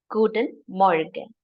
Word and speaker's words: Guten Morgen: So En is somewhat silent when you speak it fast. Guten Morgen.